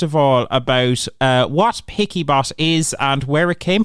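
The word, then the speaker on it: Piccy Bot: with voice over and everybody started calling it pixie bot but it is picky bot yeah picky bot awesome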